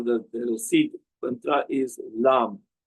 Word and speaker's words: lam: So for example root chakra beach mantra or the the seed mantra is lamb l a m.